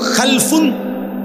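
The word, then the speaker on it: خلف: খালফুন আরেকটা হল খালাফুন একই শব্দ শুধু উচ্চারণের মধ্যে একটু ভিন্নতা। মাঝখানে একটা লাম আছে। এই লামটার মধ্যে যদি সাকিন হয় তাইলে হল খালফুন। আর যদি লামের মধ্যে জবর হয় তাহলে হল খালাফুন।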